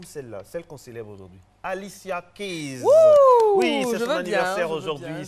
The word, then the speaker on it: Alicia Keys: Alicia Keys. C'est comme ça que les Américains prononcent. Ouais. Alicia Keys.